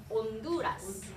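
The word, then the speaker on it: Honduras: 온두라스.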